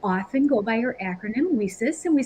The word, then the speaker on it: WiCyS: go by your acronym whisis and we spell it w-i-c-y-s pronouncing it we sis like we sisters and that's exactly what